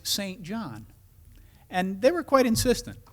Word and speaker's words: Saint John: John was that you don't ever call it St. John's. And don't spell it S-T period John. After doing it a couple of times, I was chided, and it's unusual for a Canadian to chide, that Lou, it's St. John.